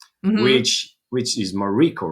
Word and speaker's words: Mariko: But anyways, my all of my cousins, my aunts, my grandparents, they always called me Mariko with the emphasis on the second syllable.